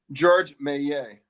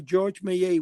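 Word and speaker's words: Georges Méliès: and I guess that what's how do you pronounce the name of the Frenchman George May okay George mayay when he did that on screen where his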